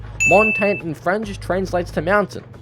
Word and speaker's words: Montagne: Montagne is actually pronounced Montania. Montagne in French just to mountain.